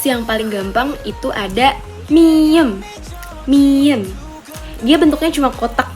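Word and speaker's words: 미음: Oke, next yang paling gampang itu ada miem. Miem. Dia bentuknya cuma kotak gitu doang. Itu dia kalau di bahasa Indonesia itu seperti huruf M. Ya, namanya miem.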